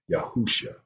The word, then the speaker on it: Yahusha: We pronounce the Messiah by His Hebrew name, Yahusha.